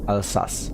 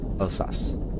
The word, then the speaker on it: Alsace: The Bekoff is a classic dish from Alsace, my home region, and it's insanely good. I am most definitely mispronouncing both of those words. It's pronounced Alsace. Okay. Alsace.